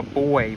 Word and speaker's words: buoy: Oh, that's some sort of a buoy floating around. Not to be confused with the gender, because it's a homophone. Like the boy I'm talking about is spelled B-U-O-Y.